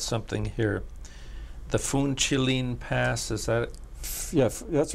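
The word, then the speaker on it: Funchilin Pass: I'm going to mispronounce something here. The Funchalin Pass, is that it? That's right, Funchalin Pass.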